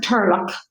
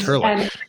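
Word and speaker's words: turlough: So it's pronounced Turlock, and Turlock.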